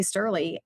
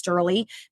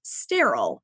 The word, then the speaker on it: Sterle: Sterle, Mrs. which happens to be my favorite because I'm a little bit squirrely. But it is regularly pronounced sterile by people.